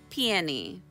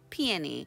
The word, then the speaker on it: peony: Now, it is pronounced Peony. Peony. I have been hearing some of you, Greg, call it Peony. That's not how you say it. At least I'm almost positive it's Peony.